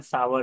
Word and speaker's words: sour: सावर candy जैसी आती, लिखने में वो बहुत सारे उसको सोर पढ़ते हैं, SOUR सोर, लेकिन उसका प्रोनाउंसिएशन सावर रहता है, तो सावर कैंडी या फिर सावर टेस्ट या नींबू की तरह खट्टा।